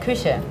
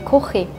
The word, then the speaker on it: Küche: In German we say Küche. In Swiss German we say Kuche.